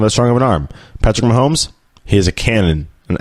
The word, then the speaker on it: Patrick Mahomes: It's Patrick Mahomes. Okay, guys, it's Patrick Mahomes.